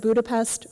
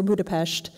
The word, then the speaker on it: Budapest: And I never know whether to pronounce it Budapest or Budapest, because it sounds a little hipster. Pesht.